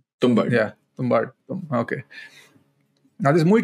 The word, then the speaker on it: Tumbbad: How's it pronounced? Tumbbad.